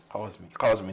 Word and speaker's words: Kazmi: Yes. Kazmi, the correct pronunciation.